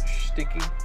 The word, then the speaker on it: Schticki: They did send me a card, and that's how you pronounce it, Sticky.